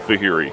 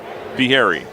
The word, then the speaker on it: Fieri: It says on the pronunciation guide like Guy Fieri. So, was it Fieri? That'd be right, not Fehring, Fe- Fieri. Fieri.